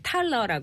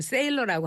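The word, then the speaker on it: Thaler: 우리나라에서는 그때 넛지라는 책을 이제 탈러라고, 그러니까 발음을 이제 우리는 탈러라고 알고 있는데 미국에서는 그걸 세일러라고 한대요. 어제 CNN을 확인해봤더니 세일러라고 했더라고요.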